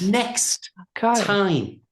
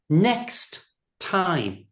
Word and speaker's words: next time: So, we don't pronounce the first one. Just comes next.